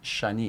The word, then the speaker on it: Chany: The way my mom pronounced it, Shani. in Shani. French.